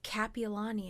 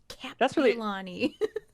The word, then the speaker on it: Kapiolani: name over here right just everyone says capilani and i'm like piolani kapiolani see i need to